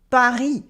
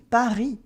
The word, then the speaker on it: Paris: For instance, the S in Paris, Paris, Paris.